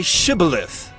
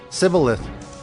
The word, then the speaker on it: shibboleth: said to him then say shibboleth and he said civileth for he could not pronounce it right Then They seized him